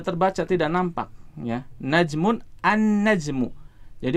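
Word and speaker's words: النجم: najmun An najmu jadi huruf lam nya melebur ke huruf setelahnya dalam hal ini berarti huruf nun ya lainnya tidak dibaca kita tidak membaca al-najm Uh tidak salah kalau kita membacanya dengan hal najmu tetapi bacanya gimana an najmu nya jadi disini penulis ingin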